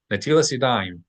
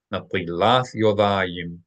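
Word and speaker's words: נטילת ידיים: In popular Ashkenazi lingo, netilas yadayim. Netilas yadayim. Natilath yodayim.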